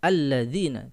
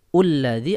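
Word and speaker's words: الَّذِينَ: berharokat fathah alladziina yu'minuuna alladziina tidak mungkin dibaca hullazi atau ilazi Ya baik yang kedua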